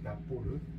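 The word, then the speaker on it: rapport: 우리가 한국에서는 이렇게 쓰는데 정확한 발음 납부를 이게 그 람보르거든요 친밀한 관계 여기까지 가시죠 람보르 그래서 그 타로는 뭐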